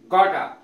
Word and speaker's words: gotta: वाना, वाना WANNA, और गॉटा की स्पेलिंग है GOTTA।